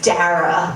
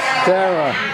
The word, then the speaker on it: Dara: And then I realized, okay, it's not Dara because it rhymes with S-A-R-A. That's Sarah. In New York, we say Sarah. So my name is Dara if you're from California, and it's Dara if you're from New York.